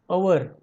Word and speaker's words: hour: Hour. And honest. Here also H is silent.